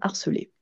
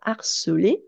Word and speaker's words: harceler: enfin cette fois-ci phonétique, c'est que le verbe harceler ainsi que le nom harcèlement et l'autre nom, les noms, ah j'ai oublié le S à nom, je vais le rajouter, hein, ainsi que les noms harcèlement et harceleur ont un H qu'on appelle un H aspiré.